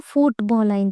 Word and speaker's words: football: use Ed as ball so football then what will happen stress Mark will be on the first post man okay post